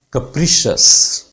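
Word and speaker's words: capricious: कैप्रिशियस. जितने भी CIOUS है इन्हें शस बोलते हैं, शियस नहीं है, सीयस नहीं है. These are शस, right, शस.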